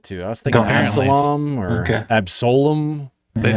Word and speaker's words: Absolum: Absalom or Okay. Absolum. They Yeah. say it in the trailer, and they say Absolum.